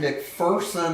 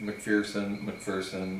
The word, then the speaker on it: McPherson: Is your name McPherson or Yes.